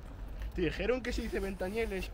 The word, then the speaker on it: Ventanielles: otro ventes Exacto te dijeron que se dice benta nieles o es que porque por ser argentino no pronuncias bien la No todo lo que ustedes